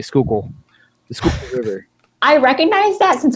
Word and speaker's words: Schuylkill: that they know how to say Schuylkill, the Schuylkill River.